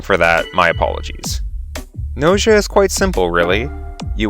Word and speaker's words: Gnosia: game's name g-n-o-s-i-a now i'm mostly sure this is pronounced nausea and not gnosia or nosaya i may be fluent